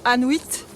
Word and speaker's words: Anuit: Et à savoir qu'il y a un petit hameau ici qui s'appelle Anuit. Ça s'écrit A2N-U-I-T, ça sonne comme Inuit.